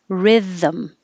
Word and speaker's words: rhythm: And 32 is 2 syllables, rhythm, rhythm. So your tongue goes out and back in, rhythm.